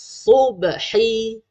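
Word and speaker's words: صبح: Usalli fardhus subhi rak'ataini adaan lillahi ta'ala. Okey, pada perkataan subhi ni. Fardhus subhi. Fardhus subhi. Ada bunyi huruf sad, bukan bunyi huruf sin.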